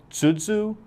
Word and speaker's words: Tuzu: closer look at the tuu which I believe is more accurately pronounced as tudu tuuu but I would have